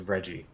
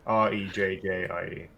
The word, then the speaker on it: Rejjie: Okay, his name is Reggie, but spelled with 2 J's instead of 2 G's. 2 J's. Yeah, Rejjie. Reggie.